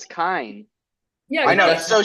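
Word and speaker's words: Kiin: Well, if it's Telrai, then it's So anyway, Keaton. so Telrai is like Well, That's how I pronounced Keaton. Keaton at first. Well, I thought no, it was. Keaton. but It's Sanderson Keaton. said it's Kine.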